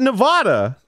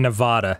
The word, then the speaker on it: Nevada: who pronounce it in Nevada seriously it's really awful but it's Nevada it's a Spanish word is it not whoo